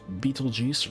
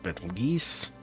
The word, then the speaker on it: Betelgeuse: 3 stars making a belt, a bright knee star named Rigel, a shoulder star named Betelgeuse, or Betelgeuse. I've heard it pronounced both ways.